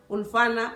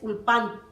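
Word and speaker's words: אולפן: estudiosos comparan la palabra ulfana, pero porque él está dando una pronunciación sefaradí, pero la palabra correcta es ulpan.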